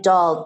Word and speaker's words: Dahl: Last name Dahl, D as in David, A-H-L, like Roald Dahl, who wrote James and the Giant Peach.